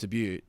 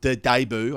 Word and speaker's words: debut: but the chance to seriously make his test debut test test debut debut or debut i should say i've had been having a